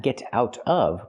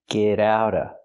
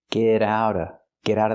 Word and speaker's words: get out of: Not get out of, but get out of. We hear the T in get and the T in out pronounced as fast D's. Get out of the house. And you don't have to pronounce the V sound in of because it's before a consonant.